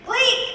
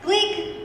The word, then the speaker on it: Gleek: Rhymes with geek. Gleek, that's right. Gleek, whoop, Gleek.